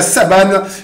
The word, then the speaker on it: Saban: il aime bien dire Saban pour que ça rentre dans la tête de tout le monde, mais non, ne vous méprenez pas les amis. Le N se prononce. Ok, bien merci. Comme Peter Sagan.